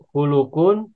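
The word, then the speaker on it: خُلُق: Ini ada kata huruf-hurufnya sama, tapi bacanya beda ini. Ada khulukun, ada kholkun.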